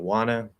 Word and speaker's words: wanna: um so uh yeah you can nasalize the o and don't nasalize the a first a and wanna drop both ends um i don't wanna